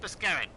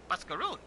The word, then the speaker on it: Mascaroon: Oh, Mascaroon. I've been pronouncing that name wrong this entire time.